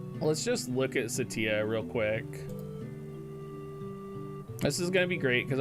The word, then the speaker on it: Ce'tia: assault version potentially uh i am pronouncing it satia hey flanks i'm doing